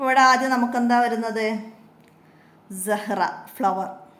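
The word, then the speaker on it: زهرة: ആദ്യം നമുക്ക് എന്താ വരുന്നത് സഹറ ഫ്ലവർ സ ഹ് റ സഹ്റ ഇവിടെ ഹത്താ ഉച്ചാരണത്തിൽ വരൂല സഹറത്തുൻ എന്ന് പറയൂലട്ടോ റഹ് റഹ് അവസാനത്തിൽ ഹ ആയിട്ടാണ് നിർത്തുക ഫ്ലവർ ഇനി ഇവിടെ സായിന്റെ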